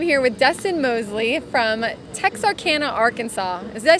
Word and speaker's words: Texarkana: I am here with Dustin Moseley from Texarkana, Arkansas. Did I say it right? You did, Texarkana, Arkansas.